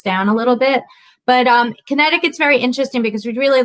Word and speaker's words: Connecticut: pronounce that? So Connecticut.